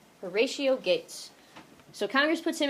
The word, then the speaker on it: Horatio: Horatio is how you say that. Horatio Gates.